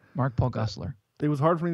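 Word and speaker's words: Gosselaar: yeah and so back to uh mark paul glossler why can't i say his name gossler thank you i don't know why that's hard for me to say mark paul gessler it was hard for me to say when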